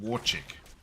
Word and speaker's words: Warchick: It's I'm also hearing it's pronounced Warchick. Is what I'm hearing.